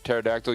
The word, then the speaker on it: pterodactyl: why can't you hear pterodactyl using the bathroom because the P is silent good thing I have